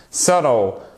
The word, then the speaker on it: subtle: Même chose. Attention, le B. Et ça s'entend tout de suite. Vous imaginez, si vous mettez un B au milieu, ça change complètement la prononciation du mot. Et il y a de fortes chances d'ailleurs qu'un anglophone ne vous comprenne pas si vous prononcez avec un B. notamment quand il est en plein milieu du mot. À la fin du mot, ça passe un peu mieux,